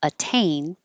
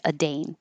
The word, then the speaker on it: attain: change to a d but the word attain the T has to be in the stressed syllable so I can't say aane it has to stay a t um and then the